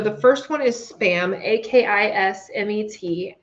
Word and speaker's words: Akismet: So the first one is Spam, A-K-I-S-M-E-T, Akismet, I believe is how you say it.